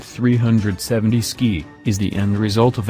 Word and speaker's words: 370Zki: mountains of eastern Idaho the three 70s keep pronounced 370 ski is the end result of asking what would